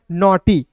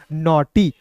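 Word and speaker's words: naughty: और समझिएगा देखिए दोस्त यहां पे एन का न लिखेंगे और ए यू है तो इसका उच्चारण औ के रूप में करेंगे जी एच टी है तो ट लिखेंगे अंतिम में वाई है तो इसका प्रयोग बड़ी के में करेंगे नॉट हो गया ना बहुत सिंपल है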